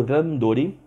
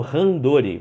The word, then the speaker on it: randori: No judô o pessoal usa o randori, que popularmente no Brasil as pessoas falam randori, mas a pronúncia é randori.